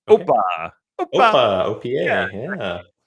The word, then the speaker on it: OPA: It's pronounced Okay. OPA.